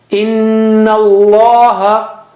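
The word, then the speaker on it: إن الله: Inna Allah. In, that is, ghunna there. Inna Allah. Inna Allah. Also in the word Allah, the first lam is not read because it has no sign, no sound.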